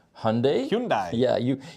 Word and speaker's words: Hyundai: Hyundai Hyundai yeah you if you want to pronounce every uh vowel in there you're going to be in trouble so just say Hyundai we do what we do in America which is ignore certain vowels but forgive us our